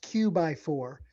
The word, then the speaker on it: QX4: It was a QX QX4 and it was supposed to be sort of pronounced Q by4, you know, like it's a 4x4.